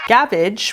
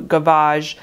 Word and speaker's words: gavage: Gavage, which is actually more likely pronounced gavage as it is a French word, literally means to gorge.